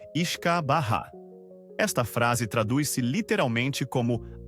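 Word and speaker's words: uisce beatha: O nome é uma versão abreviada e anglicizada do termo gaélico o beeata. Pronuncia-se iskaha.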